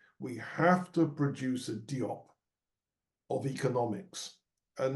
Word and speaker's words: Diop: the same way that Cheikh Anta Diop, or Diop as they pronounce it in France, revolutionized history, in the